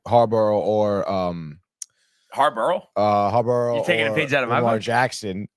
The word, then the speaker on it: Harbaugh: it's a hard name to pronounce. You just gotta think about it, dude. no, you definitely say Harbaugh.